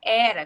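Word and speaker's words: Héracles: né mas o nome a pronúncia correta do nome do nome dele é do Herói grego seria era aqui né E era que não é o Hércules né era Filho de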